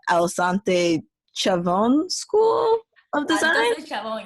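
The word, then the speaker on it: Altos de Chavón: Altos Chabon, yes, Okay. Altos, like, yeah, it's like, yeah, you said it correctly.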